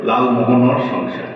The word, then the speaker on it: লালমোহন সংসার: মোহন অনেক সংসার একচুয়ালি কিন্তু সিলেটি উচ্চারণে হবে লালমোহন সংসার আচ্ছা নাটকের নামটা ছিল